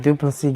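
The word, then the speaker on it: Du Plessis: congratulations sir all right duplicity getting that getting that victory over there until duplicate you know that he said the S is silent but um you know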